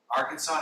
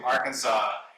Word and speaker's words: Arkansas: down in the Arkansas Arkansas has an S at the end but it's not pronounced for some reason you